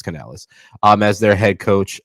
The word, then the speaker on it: Canales: Panthers hire bucks OC Dave kenel is that how you say his last name I thought it was can Canales Canales I said it wrong it's Canales um as their head